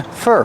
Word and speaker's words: for: for a bus and we hear the pronunciation of four change to fur fur because it's not a stressed word they're waiting for a